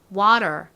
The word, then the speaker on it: water: 미국식 발음도 따라해 볼게요. T를 리을처럼 발음해 주세요. water.